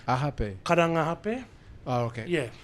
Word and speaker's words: Karangahape: Oh, is that the correct pronunciation? Ahape. Karanga ahape.